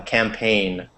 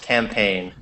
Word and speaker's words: campaign: a political campaign a campaign weird spelling with the G but the g is silent it's just campaign um and let's see